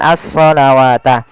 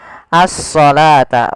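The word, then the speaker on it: الصلاة: ini bukan asalata ah ini jangan kita baca dengan asawat tapi di sini kita bacanya dengan asalata wau di sini dianggap tidak ada karena di sini dalam bentuk penulisan rasem uthsmaninya wa aqimus shata bukan shawata tapi shata wa aqimus shata waatuzzakata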